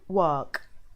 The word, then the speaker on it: work: the word is something or I go to work which is incorrect so it doesn't and I